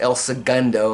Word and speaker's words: El Segundo: It's pronounced El Segundo, apparently. That's what the locals call it.